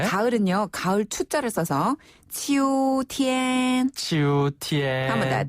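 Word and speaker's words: 秋天: 가을은 가을 투자를 써서 치우 티엔 치우 티엔 한번다 치우 티엔 이것도 평조요 그렇죠 치티네 소름으로 길개 치오 티엔 이고요네 겨울은 겨울 동자를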